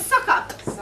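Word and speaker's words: succours: time do you know do you know how to pronounce that one which one s u c c o u r s I thought it would be but actually I listened on Google it was sucker we know to do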